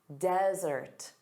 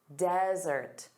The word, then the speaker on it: desert: So one S, dry, arid land, desert, desert. So notice the syllable stress is on the first sound, da-da, desert.